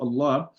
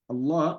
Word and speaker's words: الله: So whenever the word Allah, whenever it's the silent lam, the silent lam of the word Allah is being preceded by a fatha or a dhamma, right? So it will be pronounced with a tafkheem.